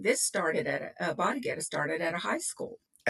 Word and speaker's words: Bodda Getta: no, 1960s, said that they were doing a little chant at the time that they pronounced Bodda Getta, and that it went